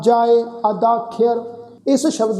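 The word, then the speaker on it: ਅਧਾਖੵਰੁ: जिवें हुण ये शब्द आ जी अदाख्यर, ऐड़ा तद्दे नूं कन्ना, खखे नूं सिहारी लगेगी, अगे ऐड़ा फिर रारा, अदाख्यर। जिवें साध संगत असीं उच्चारण कीता सी आख्यर, सुदाख्यर, इसे ही तरह अदाख्यर।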